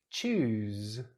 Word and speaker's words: choose: Well, in this case, the S is actually pronounced like a Z. Z. Choose, choose, choose.